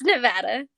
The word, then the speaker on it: Nevada: Is it Nevada or Nevada? It's Nevada.